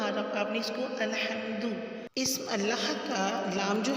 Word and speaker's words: الحمد: تلفظ دیکھ لیتے ہیں۔ الحمد میں آپ نے اس کو الحمد نہیں پڑھنا، الحمد لام کو مجھول نہیں کرنا اور ہا کو واضح کرنا ہے، الحمدو نہیں کرنا، اور آپ نے اس کو الحمدو۔ اسم اللہ کا لام